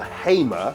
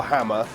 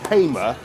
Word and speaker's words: Hamer: This is the Hamer, not the Hamer, not the Hammer, the Hamer Basset 5, and it's a multi-fuel stove, but it might be better on coal.